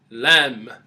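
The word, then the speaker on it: ل: letter Lam is shaped like a fish hook lamb lamb next letter would be letter meme meme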